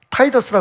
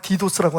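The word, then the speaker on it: Titus: 예언은 정확하게 ad 70년에 타이더스라 그러죠 그 우리가 한국 발음으로 디도스라고 하는데 타이더스라고 하는 로마 장군에 의해서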